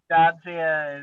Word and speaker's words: Jaja: Yeah, Jaja is the pronunciation.